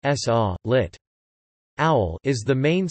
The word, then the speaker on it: Sova: The Slovenian Intelligence and Security Agency Slovene, Slovenska obvesivalno varnostna agencija, SOVA or SOVA, pronounced S-A, lit.